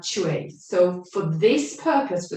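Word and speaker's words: chui: So the sound that's associated with the kidney is chue. So it's like you pronounce it C-H-A-W, chue, chue. Okay, so you can say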